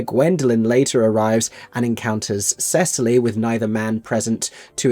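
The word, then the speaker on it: Cecily: Her name is Cesily Cardu. At least that's how I pronounce it. They insisted on saying Sicily throughout this production, not unlike the Mediterranean island, which I did find a little baffling.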